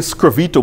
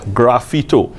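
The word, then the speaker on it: sgraffito: word is Italian right so some people say screw Vito but it's not English so it's supposed to be pronounced as graffito sometime confuses graffiti but it's similar but different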